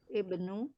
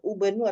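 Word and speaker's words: ابن: seperti itu ya Ibnu Jadi bukan dibaca ubnu atau abnu tapi Ibnu selama-lam kasr ada eh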